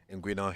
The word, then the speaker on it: inguinal: Specifically, we talk about inguinal hernia. Inguinal hernia. You got the pronunciation spot on.